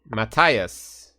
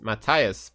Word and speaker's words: Matthias: yeah Matias blue bomb would how do you pronounce his first name in German any Germans in Cheddar Mattias said it Mattias blue bomb okay I thought it was wrong